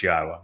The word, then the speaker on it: Yahweh: U so be aware God's name is pronouncable. It is Yahwa. There is no B sound in the original Hebrew language.